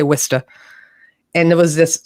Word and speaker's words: Worcester: here called worcester it's it's spelled w-o-r-c-e-s-t-e but we say wista and there was this